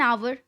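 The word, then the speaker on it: hour: जैसे an apple, an आवर। अब आप बोलेंगे मैम एन आवर क्यों? आवर तो फिर वापस से एक कॉन्सोनेंट लेटर से शुरू हो रहा है जो कि है एच।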